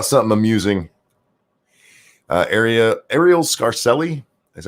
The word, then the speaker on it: Arielle Scarcella: talking about sjw's so how something amusing area Arielle Scarcella that's how you say her name she's the